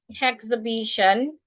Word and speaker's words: exhibition: Now this word, exhibition. So the word, according to its pronunciation, exhibition.